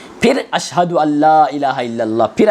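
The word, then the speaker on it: أن لا إله إلا الله: अन ला इलाहा इल्लल्लाह नहीं। अलिफ नून ज़ अन नहीं। अलिफ लाम ज़बर अल वो नून साइलेंट समझिए उसको आप। डायरेक्ट कहां पढ़ते हैं? अशद अल्ला इलाहा इल्लल्लाह व अशद अन्ना मोहम्मदन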